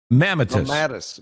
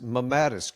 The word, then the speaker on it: mammatus: How do you pronounce it? Mammatus? Mamma. Mammatus. Mammatus.